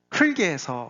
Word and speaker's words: 흙: 그래서 허물고 더 허물어서 결국은 인간이 흙에서 와서 흙으로 간다. 그렇게 바닥을 얘기하고 있습니다. 그게 3장까지 온 내용의 결론이에요. 이 흙이라는 이 단어 발음이 좀 어렵잖아요. 그렇죠? 리을만 하기도 어렵고 기억만 하기도 어렵고 흙.